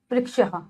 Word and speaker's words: वृक्ष: प्रकार की होती है और जब हम इसका वर्ण के साथ उच्चारण करते हैं तो व जमारी जमश मतलब वृक्ष री का साउंड आएगा वृक्ष मतलब पेड़ नेक्स्ट है